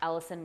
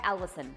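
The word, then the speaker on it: allicin: After a while, that Allison will start to kind of fall off and the flavor kind of begins to kind of mellow, and that's what you want.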